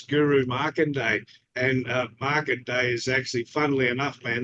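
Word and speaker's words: Markandeya: a real Hindu god it's Market day and it's spelled m a k my name is Mark um m a r k a n d e y a and really sounds like EO like the old song Right EI EO he's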